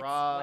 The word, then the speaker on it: Ra's al Ghul: It's Raz. whatever. I go off Batman the animated Batman. series Yeah.